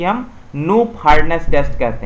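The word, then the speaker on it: Knoop: है जिसे कि हम नो फिटनेस टेस्ट कहते हैं नोट की स्पेलिंग होती है के एन डबल ऑफिस यह क्या होता है साइलेंट रहता है न्यू फेयरनेस हम उसे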